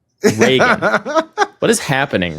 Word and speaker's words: Reagan: Doulus and Rean.